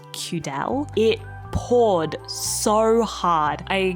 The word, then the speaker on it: Cudal: I was pronouncing this place as Cudal, but it's Cudal.